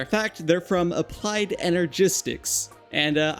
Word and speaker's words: Energistics: As a matter of fact, they're from Applied Energistics. And uh I only realized that's the right way to say it like very recently. I always used to say Enerestics. I guess I didn't read it properly ever.